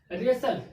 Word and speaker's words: wrestle: WRESTLE, एस के बाद टी आ गया, तो एस के बाद जब टी आया तो टी क्या हो गया? साइलेंट हो गया। तो जब टी साइलेंट हो क्या बचा? WRESLE, यानी रेसल।